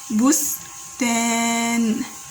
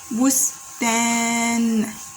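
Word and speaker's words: بستان: And then the last word, the last letter, noon with a sukun is pronounced like that, So again, we are pronouncing bustan, bustan, bustan, like that.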